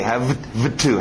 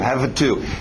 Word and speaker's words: have to: Esse V não bate muito bem com um T, have to, have to. Então sobe esse V e faz um F dele, subir para a boca e vira F.